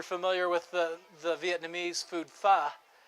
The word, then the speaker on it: pho: If you're familiar with the Vietnamese food pho, it's spelled P-H-O, but I named this one pho, rhymes with duh, so you'll know how to pronounce it.